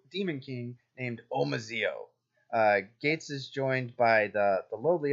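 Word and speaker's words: Geiz: this crazy dude called gates both gei Z because that's how you spell gates yes that's how it's pronounced in Japanese or has some of the fandom has called him gays because of how it's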